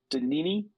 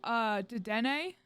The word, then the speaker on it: Dedenne: Where'd he go? Danini. He looks like a little mouse. Oh, Dedenne? Dedenne. Yep, there it is.